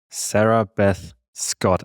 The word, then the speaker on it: Sarabeth Scott: I'm here with Phillip and our guest today is Sarah Beth Scott. I hope I pronounced your name correctly.